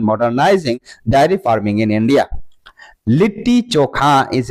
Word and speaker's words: लिट्टी चोखा: तो लिट्टी चोखा इसका प्रोनाउंसिएशन है।